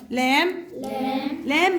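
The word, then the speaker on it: lamb: طيب لام البي سايلنت.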